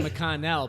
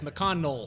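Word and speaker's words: McConnell: for Mitch mccon and in most places it's actually mcconell but there it's mcol I have no idea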